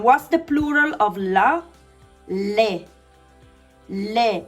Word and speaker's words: le: Le. Le. It's not li, okay? It's le. This is I. This is e. E sound.